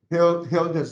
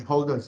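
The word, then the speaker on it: Hölder: the holderness inequality okay this is a German name the two dots on top um it's uh Hilda's inequality but if you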